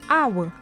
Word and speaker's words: hour: An hour. The H at the beginning of hour is silent.